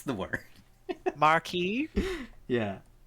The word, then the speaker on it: Marquis: Marquee. Yeah. It's Marquis? pronounced marquee.